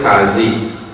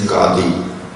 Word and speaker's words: Qadi: Our panchayat will be headed by in Trinidad they call it Qazi. The correct pronunciation is Qadi.